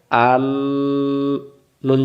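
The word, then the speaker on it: أَنَّا: তাহলে হামজা জবর আ, আ মিলবে নুনের সাথে, আন, নুন জবর না, কি হইল? আন্না।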